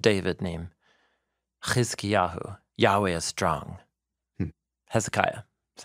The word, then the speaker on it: Hezekiah: a descendant of David named Kahu yahweh's strong Hezekiah that's how we say his name okay and